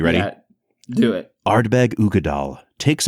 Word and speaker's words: Uigeadail: All right, so today we are checking out Ardbeg Uigeadail. Brad, that's how it's pronounced, Uigeadail.